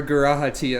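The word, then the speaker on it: G'raha Tia: for whenever garahati appears i also don't know if that's the correct way to say the g actually let me double check i'm afraid of doing anything wrong with this character that literally everybody loves it is a short goo okay oh [ __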